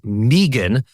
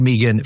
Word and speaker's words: Meaghan: That a in there makes it Meagan.